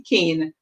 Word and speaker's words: cane: Let's see cane. The A saying a, and then the E at the end is silent.